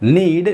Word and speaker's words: knead: नीड। नीड का मतलब होता है कि गूंथना या फिर सानना। यहाँ पर जो नीड की स्पेलिंग है वह है KNEAD, ना कि NEED।